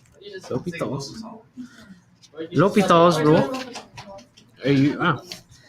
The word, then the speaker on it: L'Hôpital: It looks like it's spelled La Hospitals, okay? But it's La You Hopitals. don't pronounce an H in L'Hôpitals.